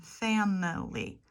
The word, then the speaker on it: family: Technically, family and every could have 3 syllables if you count the Y as a vowel. A, I, and Y are in family. But often, English speakers will say family. 2 syllables.